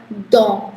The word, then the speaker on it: dents: So ts is silent, so don, which is for teeth, okay?